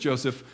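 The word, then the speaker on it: Joses: J O S Ess which you probably get to and you're like, "How do I pronounce that name?" It's just Joseph, but it's how it comes into our New Testament.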